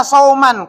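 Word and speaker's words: صومًا: Ini masdarnya sudah dapat masdarnya bacanya sauman karena masdar soman.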